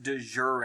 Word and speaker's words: de jure: have de facto and the other one is pronounced de jure a-alright de facto is